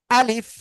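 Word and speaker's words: ألف: কিভাবে উচ্চারণ করতে হয় সবাই আমার দিক তাকাতে হবে না হলে কিন্তু বুঝতে পারবেন না আলিফ এই যে শেষে আলিফ এইযে উচ্চারণ করতে গেলে কি হচ্ছে নিচের পেট উপরে দুই দাতের আগায় লাগিয়ে হালকা বাতাস বের করতে হবে আলিফ আলিফ দেখেন সবাই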